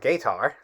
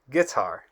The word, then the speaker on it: guitar: It's not gator, it's guitar in English, because even if the U is silent and the I makes an I sound, the last consonant doesn't have a vowel ending.